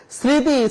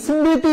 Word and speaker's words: স্মৃতি: স্মৃতি, স্মৃতি না, স্মৃতি, দন্ত স্বর সাথে একটা ম রয়েছে, এই ম বর্ণ চলে যাওয়ার কারণে এখানে একটা চন্দ্রবিন্দু হয়েছে। স্মৃতি, স্মরণ একইভাবে হয়েছে।